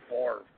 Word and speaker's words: Favre: Brett Favre, who is probably one of the top 3 quarterbacks of all time, I think we can all agree on that, has 3 MVP. You got to say Brett Favre.